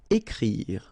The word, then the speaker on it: écrire: Then écrire. So remember, you've got this accent aigu on the top of e, so it will produce the sound e.